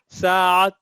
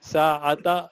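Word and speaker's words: ساعة: Sa'a is the te is silent. Is watch. Jawwal is mobile phone. Jawwal. Okay. Sa'a, Jawwal. Sa'ata, if it is Dhamma, it's Sa'ata we say.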